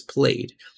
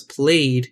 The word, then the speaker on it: played: Whereas played, it sounds like D, right?